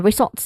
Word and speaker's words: results: focus on this one because it has the stressed syllable, which is the second syllable, salts. So this is, again, the phrase is, this results in. Again, this results in. Zolts has a buzzing sound.